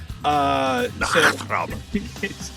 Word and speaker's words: Nachtrab: To say it correctly, it requires phlegm. Nachtrab. But knock on a door, Traub. That's it. Nachtrab.